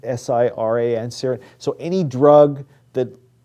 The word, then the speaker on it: siran: These drugs, just as sort of a shorthand for you, if you then kind of dyslexically take siRNA, you can kind of misspell it as Siran, S-I-R-A-N, Siran.